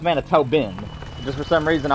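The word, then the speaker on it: Manitoban: Manitoben. Okay. Yeah, I knew that's how you pronounce it.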